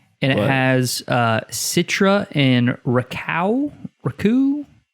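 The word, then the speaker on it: Rakau: And it has Citra and Raku. And it's pronounced raccoon.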